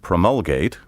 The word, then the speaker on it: promulgate: in an official manner you may pronounce this word either promulgate or promulgate as you please promulgate is the original